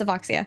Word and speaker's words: Avoxia: on our podcast with Avexia. I think is how you say her name. I'm sorry, Avexia. Yeah, I think it was Avexia. I think it was Avoxia. Yeah, it's Avoxia.